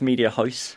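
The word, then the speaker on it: Mediahuis: This is actually one of the benefits from being where I'm from, because it's the one time I pronounce something correctly. It's Media House.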